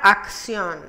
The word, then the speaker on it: acción: como en la palabra acción la primera se se pronuncia acá y la segunda es porque va seguida de iu y se pronuncia si acción wr que representa la